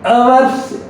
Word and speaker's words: hours: For past habits, he studied many hours every day. H is silent here.